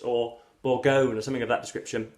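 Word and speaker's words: Bourgogne: the Memoirs of Sergeant boronia I believe it is pronounced or borgone or something of that description um the final g is silent um this is an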